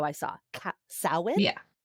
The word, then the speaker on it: Samhain: At first, I thought it was Samhain, and people are like, "Oh, no." And sow, like cow, in, I think is how I saw. Samhain?